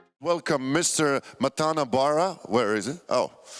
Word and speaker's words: Matan: Matan Bar.